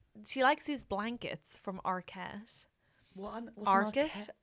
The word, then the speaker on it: Arket: Okay, because the alternate gift idea was she likes these blankets from Arquette. What's an Arquette. like Patricia Arquette. But it's spelled ARKET. Okay, so not. But so not at all like that.